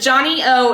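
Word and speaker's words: Johnnie-O: And Johnny O is spelled JOHNNIE -O, capital O.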